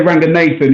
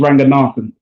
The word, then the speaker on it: Ranganathan: um and not nathan a lot of people on tv say ranger nathan he's his family from sri lanka and the correct pronunciation is ranganathan so yeah me and